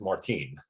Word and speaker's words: Martin: yes which is funny because Martin isn't pronounced like that either it's Martine so it would be Remy